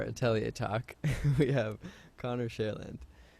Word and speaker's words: Cherland: I pronounce it Cherland, but when I say that, people are like, cool, Shurlund. And I'm like, no, you weirdo. Right? So that's why I started saying Shareland, share like the singer, land like the